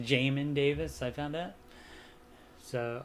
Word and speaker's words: Jamin: It's pronounced Jamin Davis. I found out. So I thought Yamin or Jamin, but no, it's Jamin.